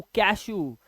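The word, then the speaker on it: cashew: अब इसका उच्चारण क्या है, ऊ, कैशू। अब इसे यू नहीं पढ़ेंगे, कैशू, फ्लू, फ्लू, है ना, च्यू।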